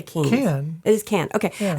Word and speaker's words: Cannes: Cannes.